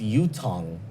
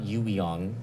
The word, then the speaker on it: Yutong: Oh, it's Yutong, not Yuiong.